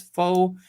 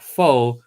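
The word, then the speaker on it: phở: I'm proud you say pho correctly. Americans often fail often and say it with the same pronunciation as faux, which means something very different.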